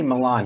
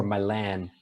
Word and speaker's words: Milan: I'm too sexy for Milan, New York, and Japan. He needed to rhyme with Japan, and he decided to say Yeah, Milan.